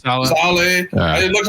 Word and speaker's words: Saleh: How do you pronounce his name? Robert Saleh. Saleh.